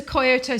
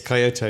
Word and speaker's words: Kyoto: you we went to koyoto station is how you say kyoto yes kyoto yes it's the old